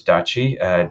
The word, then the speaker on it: DACI: Like this, the RASCI is one that, or RAC, you know, we settled with one that we decided to pronounce DACI, D-A-C-I. So every project has one driver, one approver.